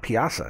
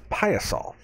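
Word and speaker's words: Piasa: the pious all bird i've been pronouncing this wrong the whole time it's not piazza it's piosol pious saw bird we went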